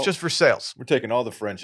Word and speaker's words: Versailles: think is how veres Ohio is just Versailles but it's just for sales which is awesome for